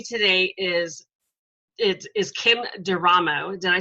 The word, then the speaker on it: Durham: so with me today is it is Kim Durham oh did I say that right I forgot to ask you how to pronounce your last name you in the first